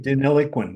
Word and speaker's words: Deniliquin: How do you pronounce that? Deniliquin, yes.